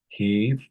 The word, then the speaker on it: heave: Well, he is pronounced as what actually we can say heave, heave, right?